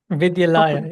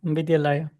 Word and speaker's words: Vidyalaya: Priyank, how do we pronounce it? Vidyalaya, yeah, Vidyalaya.